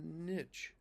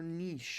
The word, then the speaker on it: niche: That's the whole point of a niche or niche or whatever however you want to pronounce the word. And n i c h e. Right? Niche, or niche. Depending on who you are and where you're from. And I just want to